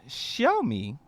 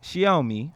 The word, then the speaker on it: Xiaomi: a company like like show me show me I think that's how you pronounce it X I a which is she I she I she owe me I believe is how it's pronounced decides that they want